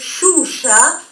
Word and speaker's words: Xuxa: La X, famosísima, a partir de la cantante Xuxa, se va a pronunciar la mayoría de las veces shh, como si estuviésemos pidiendo silencio.